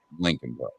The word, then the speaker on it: Leakin: e a k i n part but it's pronounced Lincoln I I don't get uh leaking that's I